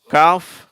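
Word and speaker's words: cough: உச்சரிப்பு வருது பார்க்கலாம் இது கோஸ்ட் சரியா இதுல க்ன்ற உச்சரிப்பு வருது லாப் காஃப் ரஃப் தோ இந்த வார்த்தை என்ன தோ அடுத்தது இந்த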